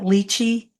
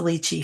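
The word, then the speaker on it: lychee: it's Rose raspberry and don't you pronounce that leachi I think it's a luchy fruit I think so ly c h e e yeah and it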